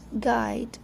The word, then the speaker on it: guide: Have you ever noticed why the words like guilt, guide, guys, guy has a silent letter U?